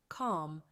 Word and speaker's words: calm: talk about is calm calm listen up there is a silent letter in this word calm which one is it l yes it is the letter L so now instead of